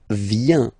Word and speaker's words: vient: Then il, elle, vient. Final T not pronounced.